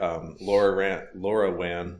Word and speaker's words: LoRaWAN: Yeah, terribly hard to pronounce LoRaWAN. You can just say LoRa. That's what most people say.